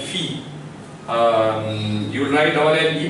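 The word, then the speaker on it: fille: So only this much will be pronounced, and you will read as Phi.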